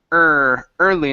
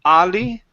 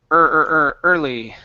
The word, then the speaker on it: early: Okay, let's go to your last one, which is the word early instead of ali. Early. Ori. No, pronounce that R instead of oli. Push your lips outward.